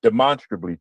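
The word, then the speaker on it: demonstrably: Um, you know, you you when you approach the word, you you think of demonstrate and you and but when you say it properly, it brings to mind monster and you you really if you're not in a academic setting or or pe around people who use words like that, you're never going to hear how to say it correctly.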